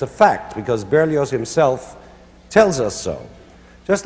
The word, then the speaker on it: Berlioz: That's Berlioz, the Z is pronounced.